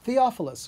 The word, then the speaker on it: Theophilus: Theophilus. Yeah, Theophilus.